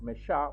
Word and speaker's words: mes chats: just say mes chats, but still, you just going to pronounce mes chats, but you will add an S.